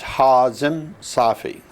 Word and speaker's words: Hazim Safi: Well, the correct pronunciation is Hazim Safi.